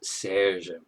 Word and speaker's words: Serge: Serge is, of course, the katakana pronunciation. The real pronunciation is Serge. But, Serge, it's very close.